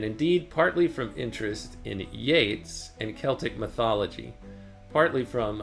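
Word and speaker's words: Yeats: in Yates is it yeets or Yates robot lady ye a TS how do you pronounce that it's pronounced Yates like rhyming with Gates William Butler yeets the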